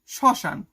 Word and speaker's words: শ্মশান: শব্দের প্রথম বর্ণে ম ফলা থাকলে সেই বর্ণ উচ্চারণের সময় ম এর উচ্চারণ আ এর মত হয়। যেমন শ্মশান সয় ম। ঠিক আছে? কিন্তু ম ফালাটা উচ্চারণই হইলো না। যেন সিম্পল লেখা শ্মশান।